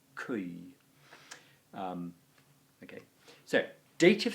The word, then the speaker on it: cui: creme cram good cause well it's actually a diphthong it's cui is pronounced kui um okay so date